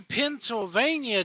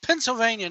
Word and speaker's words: Pennsylvania: Oh, man, riding through Pennsylvania today. Why'd I say it like that? It's Pennsylvania, not Pennsylvania.